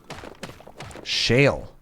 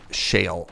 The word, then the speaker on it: shale: It rhymes with kale.